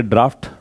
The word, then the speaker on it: draught: DRAUGHT इसको हम बोलेंगे ड्राफ्ट और DROUGHT है इसका ड्राउट है।